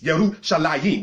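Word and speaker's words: ירושלים: Because anything that's a dual plural in Hebrew has the ayim sound at the end of it. Yarushalayim, All right, translated as Jerusalem.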